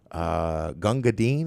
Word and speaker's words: Gunga Din: Essentially, that there was a movie in the 50s, Gunga Din.